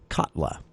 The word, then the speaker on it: Katla: the winner the top of all this was katla is how it's pronounced K A and this is actually set